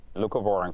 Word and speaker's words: leucovorin: All right, so for people hearing about this, and I hope I'm saying it right, it's leucovorin, right? Leucovorin, correct.